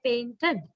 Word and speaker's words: painted: And when we say, actually in Sri Lanka, we say painted, painted, but it is supposed to be pronounced with this final sound, id. It's like painted, painted. It's not painted, but actually it's more like that sound, right?